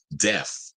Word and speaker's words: Def: I worked Def Leppard, not deaf, Def. That you gotta say it like you black, Def Leppard.